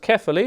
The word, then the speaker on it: Quevilly: Spelt like that, but it's pronounced Quevilly, a bit like Stefan Kuntz.